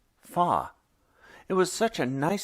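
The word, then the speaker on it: 发: eight ba rhymes with the word for Prosperity fa it was such a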